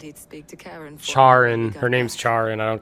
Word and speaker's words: Charon: name's pronounced Karen. Yeah, something like Sid that. even said he'd speak to Karen. Charin.